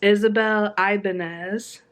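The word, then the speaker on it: Isabel Ibañez: book was Isabel so I actually said her name wrong earlier she said it it's Isabel Ibanez and when I got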